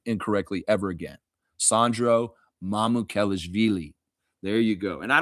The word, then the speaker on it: Mamukelashvili: Like the Bulls announcer last night was calling him Mamuk Kelishvili. Kelevili or something like that.